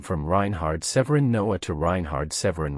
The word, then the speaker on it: Reinhard: Reinhard. Please spell that name.